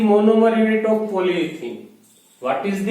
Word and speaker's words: polyethene: हम पॉलीथीन कहते हैं, ये यूज नहीं करते। बाकी इसका सही प्रोनाउंसिएशन पॉलीएथीन ही होता है।